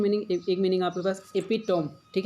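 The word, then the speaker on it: epitome: इसका एक जो हिंदी मैंने जब प्रोनाउंसिएट करा तो ऐसी मिल रही है, अपिटमी मिल रहा है, ठीक है, अपिटमी। तो आप जैसा भी पढ़ पाएँ, एपिटोम पढ़ें तो भी ठीक।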